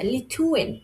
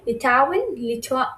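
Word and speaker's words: Litauen: লিথাউয়েন, আচ্ছা লিথুয়েন। ওকে, লিথুয়েন, লিথুইনার, লিথুইনিশ। আচ্ছা, লিথুয়েন একটা কান্ট্রি, এটা ইউরোপেরই একটি কান্ট্রি। লিথুয়ানিন, লিথাউয়েন, সরি এটা হবে উচ্চারণ হবে লিথাউয়েন, লিথাওয়ার, আর লিথাউইশ, লিথাউইশ।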